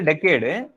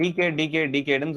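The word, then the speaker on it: decade: உதாரணத்துக்கு இது வந்து டெக்கேடு, எனக்கு இது டெக்கேடுன்னு சொல்லணும்னு தெரியும், ஆனா நான் டிகேடுன்னு சொல்லிட்டு இருப்பேன் ஒரு ஸ்லிப் ஆஃப் த டங்ல.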